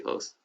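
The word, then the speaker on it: hijos: making clothes we see hoes okay cool so remember the h is silent great all right and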